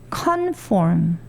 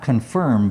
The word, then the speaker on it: conform: Conform. Not confirm, but conform, to shape from the outside.